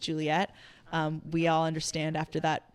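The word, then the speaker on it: JULET: I think when I first started out as my old artist project name, which was JUL ET, pronounced Juliet, we all understand after that long explanation why I decided to change it to my legal name.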